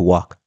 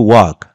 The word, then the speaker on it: walk: que significa tiempo to Walk para caminar siempre recuerde que esta palabra W no se dice la l del no se pronuncia es una l muda no es Walk